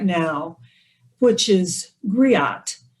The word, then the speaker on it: griot: right now which is griot it's spelled g-r-i-o-t-e and that's a french term for an ancient west african tradition of oral history and the term griot are the female oral historians